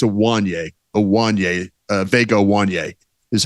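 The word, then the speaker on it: Ioane: I think it's Awanye.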